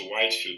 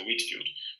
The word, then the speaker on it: Whitefield: O George Whitefield, apesar do nome dele ter um Ezinho aqui, eu já vi a pronúncia dele como Whitefield. Deveria ser Whitefield, né, mas é Whitefield.